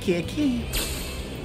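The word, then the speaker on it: ケーキ: Oh, keki.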